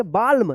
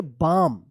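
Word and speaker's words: balm: अब यहां पे देखिए बी ए एल एम क्या पढ़ेंगे इसको इसको पढ़ेंगे बाल्म नहीं इसको पढ़ेंगे बाम बी एल ए एम बाम यहां पे भी एल का उच्चारण नहीं हो रहा है एच ए एल एल एफ क्या पढ़ेंगे इसको?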